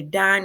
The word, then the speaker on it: Dine: my name is the dine rhymes with Divine I am the chief